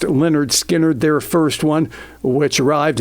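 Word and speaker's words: Lynyrd Skynyrd: skinnard classic southern rockers pronounced Leonard skinnard their first one which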